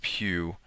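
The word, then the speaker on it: pyew: that's called PE it's spelled pyw and uh pronounced Pew and it is a command line hex editor viewer and disassembler so Pew allows us to navigate and explore uh an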